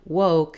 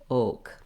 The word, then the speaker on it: woke: Or in a word like woke, it would sound more just like oak.